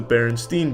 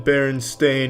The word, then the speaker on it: Berenstain: It's always been Berenstain, not Berenstain. Everyone every everyone every they all want to pronounce it Steen but it's Stain.